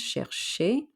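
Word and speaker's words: chercher: to look for or to search like it sounds shershey and danae which means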